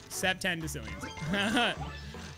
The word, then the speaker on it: septendecillions: Interesting way of pronouncing it. All right, so that's how you say it. Septendecillions.